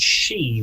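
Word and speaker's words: sídhe: and so the word she which which is an irish word in old irish as i father d uh pronounced like the word she as in feminine um they are portals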